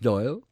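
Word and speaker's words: Dáil: in Ireland the Dublin Parliament is called the Doyle pronounced Doyle and Irish word meaning a place where bankers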